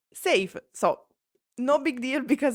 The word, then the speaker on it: Sayf: Uh I read his name as scythe. Apparently it is pronounced safe.